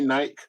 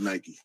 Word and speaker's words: Nike: people I've heard people in theuk say Nik and I always feel like it's just um to separate themselves you know or or or to to um just to be different you know just call it night whatever but nobody nobody that I've ever heard talk from Nike calls it n it's always Nike that's the way it